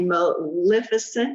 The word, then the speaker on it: Maleficent: built is the right mark you created a maleficent did i say it right yes all right